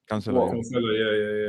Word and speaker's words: Cancelo: Rodri, Diaz, Cancelo. Is that how you say his name? Cancelo.